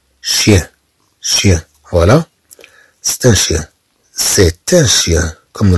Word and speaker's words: chien: voici mon petit chien، ها هو كلبي الصغير، chien chien ch تنطق ش ch تعطي الصوت ش chien chien chien.